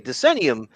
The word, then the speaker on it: Decennium: Okay, Decennium.